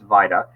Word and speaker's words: VITA: and I tell people and you're correct it's Vita I tell people it's pronounced vital-like vitamin not Vita like Velveeta cheese um Vita is our volunteer